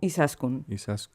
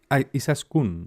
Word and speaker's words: Izaskun: Y se pronuncia Izasko. Izaskun. Izaskun.